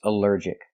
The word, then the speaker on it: allergic: Allergic is three syllables. Allergic. The stress is on the second syllable. Allergic. Allergic. Here the al is not pronounced all but pronounced uh like in cup and up because it's not stressed.